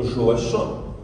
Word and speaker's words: Joachim: il écrit en français il prononce d'ailleurs l'entendait de tout à l'heure son prénom joachon comme l'on dit joue à chant du Bellay c'est-à-dire la prononciation en langue toy de Joachim la prononciation joative étant